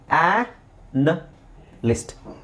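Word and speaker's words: analyst: ಇದೆ different sounds ಇದೆ ಇಲ್ನೋಡಿ ಅ ನಾಲಿಸಿಸ್ ಅನಾಲಿಸಿಸ್ ಬಟ್ ಇಲ್ಲಿ ಅನ್ ಲಿಸ್ಟ್ ಅನಲಿಸ್ಟ್ ಇಲ್ಲಿ ದೀರ್ಘ ಇಲ್ಲ ಆ ಅನಲಿಸ್ಟ್ ಅನಲಿಸ್ಟ್ ಇಲ್ಲಿ ಅಕ್ಷರಗಳು ಸೇಮ್ ಕಾಣಿಸ್ತಾ ಇದೆ ಆದರೆ ಉಚ್ಚಾರಣೆ ಬೇರೆ ಇದೆ ಇಲ್ಲಿ ಅನಾಲಿಸಿಸ್ ಇಲ್ಲಿ ಇಲ್ಲಿ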